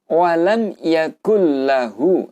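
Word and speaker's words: وَلَمْ يَكُن لَّهُ: Sehingga nunnya ini tidak perlu dibaca, langsung masuk ke lam. Sehingga bacanya adalah yakulla, yakulla, ya. Nah, namun panjang harokatnya itu tidak didengungkan, yaitu artinya cukup dengan 1 harokat saja. Sehingga bacanya adalah walam yakullahu, ya, yakullahu. Nah, di sini artinya adalah idgham bila gunah, memasukkan dengan tidak mendengung.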